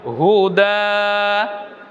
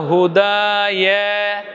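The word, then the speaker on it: هدى: আমরা ইয়াকে খালি নিয়েছি উচ্চারণ কেমন হবে হুদা আপনি বলবেন না হুদা ইয়া ইয়া বলবেন না ইয়া কেন বলবেন ইয়া তো খালি আছে পড়তে হবে না ইয়া আসবে না দেখুন হুদা এরপরে কি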